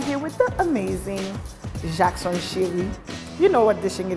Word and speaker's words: Chery: it's all about Haiti thank you for saying my name the right way the last name say yes but even me my whole life I was saying it wrong up until I had a daughter you know haian growing up I was like yeah my name is Jackson Cherry my daughter recently she